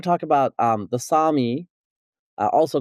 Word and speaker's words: Sami: okay so the the the Sami not the Sammy uh as I was saying earlier you you know you chastised me for mispronouncing it they're called the Sami uh I guess there's